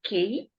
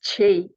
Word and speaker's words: chi: one's heart yeah yes it's um pronounced Chi thank you you I